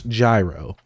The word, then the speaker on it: Gyro: know how to say gyro I know it's gyro I like gyro I like to say that better it rolls